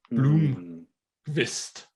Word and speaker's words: Blomqvist: Blomqvist, to pronounce it almost correctly.